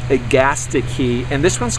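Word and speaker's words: Agastache: is um this is ATI key um it's pronounced agasti key and this one's called it's a new one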